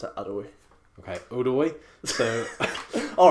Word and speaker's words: Odoi: Oh, it's spelled Odoi, but you have to pronounce it Odoi. Okay, Odoi.